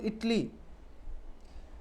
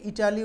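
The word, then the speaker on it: Italy: Anuradha travel to ইটলি। After এটা একচুি ইটালি উচ্চারণ হয় না। হ্যা এটা ইটালি উচ্চারণ হয় না। এটা হ ইটলি।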